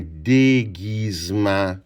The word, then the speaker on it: déguisement: et après mon e avec mon accent aigu pour faire d gu j'ai besoin du g et ça fait guy. Mais je peux pas juste mettre un I. Si je mets juste un I, ça va faire J parce que c'est un G doux avec un I.